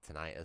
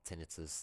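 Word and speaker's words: tinnitus: or uh you can get auditory hallucinations like almost like tonitis sometimes or tinitus depending how you pronounce it.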